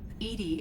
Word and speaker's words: EDI: why are you named edie edie is the phonetic pronunciation of edi that is an acronym for enhanced defense intelligence where are you my